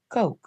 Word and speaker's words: Koch: I learned his name was actually pronounced Ko.